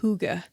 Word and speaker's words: hygge: g g e and it's a Danish word okay um but yeah I guess you're supposed to say hygge okay I'm supposed to